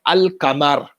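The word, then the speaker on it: القمر: within the arabic alphabet if they are connected to alif lam before them then the alif lam is pronounced for example the word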